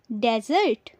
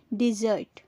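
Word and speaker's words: dessert: खैर, इसकी correct pronunciation होती है डिज़र्ट। डिज़र्ट। बहुत से लोग इसे डेजर्ट कहते हैं, जो गलत है। सही उच्चारण है डिज़र्ट। याद रखें कि डिज़र्ट मिठाई के लिए होता है और डेजर्ट रेगिस्तान के लिए। दोनों का उच्चारण अलग अलग होता है, पर बहुत से लोग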